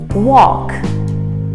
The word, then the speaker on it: walk: an o and the l is silent walk walk just like a restaurant you might have heard of a chinese buffet here in costa blanca wok the pronunciation is the same walk walk our next